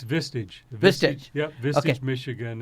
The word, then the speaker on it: Vistage: Manish you're doing fine so how do you pronounce mr. its Vistage Vistage yeah this is Michigan and as you